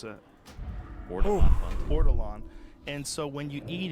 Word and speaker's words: ortolan: How do I pronounce it? Ortolan.